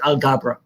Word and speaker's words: Alghabra: on the end and I pronounce it so it's algebra yes Agha brah perfect work awesome I'll